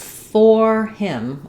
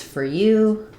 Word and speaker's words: for: But in reality, in fluent speaking, we reduce these. So if I'm saying this is for him or it's your turn with stress, I will use the full or sound. But most of the time, these words are unimportant and unstressed, and those letters OR get reduced to the so I'll say it more like it's for you, it's your turn.